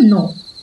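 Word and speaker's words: know: বানানে গন্ডগোল হওয়া যেমন কে এন ও ডব্লিউ এর উচ্চারণ নো যার অর্থ কোন কিছু জানা আবার এন ও এর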